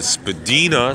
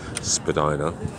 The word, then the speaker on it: Spadina: coming up to the Spadina Spadina svidaniya take your pick on how you want to pronounce that but most of us folks in toronto call it Spadina so we're stopped so